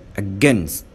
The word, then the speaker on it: against: احنا بنقول said ما ينفعش نقول said. says ما قولش says. again ما قولش again. against said says again against. any many هنقولهم مرة كمان.